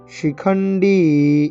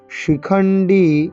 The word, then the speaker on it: শিখণ্ডী: কাশ্যশ্চ পরমেশ্বাসঃ শিখণ্ডী, এই ডিতে টান, ইকারে টান দীর্ঘ, শিখণ্ডী সেটা কিনা তালিব্য স, শিখণ্ডী ড নয় ডয়, এটা মূর্ধবর্ণ তাই এরকম করে জিভটাকে উল্টো করে উচ্চারণ করতে হবে।